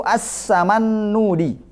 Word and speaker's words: As-Samannudi: Bacanya itu As-Samannudi.